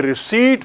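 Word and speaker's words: receipt: Gandhi sign A रिसीट फॉर the notice. रिसीट की spelling देखिए। आर ई सी ई आई पी टी P silent है यहां।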